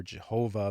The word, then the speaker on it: Jehovah: Now, various esoteric traditions, by the way, may disagree with that, but the tetragrammaton is variously pronounced as Yahweh or Jehovah, but many Jewish adherents